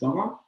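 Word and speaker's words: Gabba: So then one of the bands I would recommend is Gaba. Gamba. Gaba. How do you spell that?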